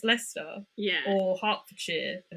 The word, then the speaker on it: Leicester: Or like Leicester, everyone would look at it and they'd go, "Oh, it's Lester. It's Leicester."